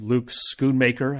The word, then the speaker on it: Luke Schoonmaker: Luke Schoonmaker, I think is how you pronounce his name, 9.75.